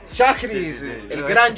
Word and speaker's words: Schajris: Hola amigos de Libro al Aire, un gran invitado, Noel, yo siempre tengo problemas con su apellido, ¿cómo es que se pronuncia? Chagris, sí, sí, el no gran Joel Joel Chagris.